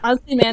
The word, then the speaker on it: Ozymandias: Like what would Ozymandias is that how you pronounce it? The Yeah. 14th Yeah. episode. Yeah, like that. Like Ozymandias.